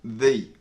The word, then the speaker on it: the: one little bonus tip the word the can also be pronounced thee although this rule is